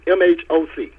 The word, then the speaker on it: MHOC: Mine is MHOC. Okay. But it's pronounced like the MOCK you would see, but it's MHOC.